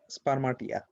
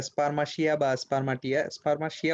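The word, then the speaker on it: spermatia: আর একটা হচ্ছে স্পারমাটাইজেশন হচ্ছে টিনি unicellular spore like structure called স্পারমাটিয়া। একটা স্পারমাশিয়া উচ্চারণ করাটা ভালো।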